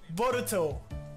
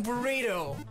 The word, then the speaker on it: Boruto: If you change the U to an I, instead of saying Boruto, no. You would be saying burrito. And that would be burrito.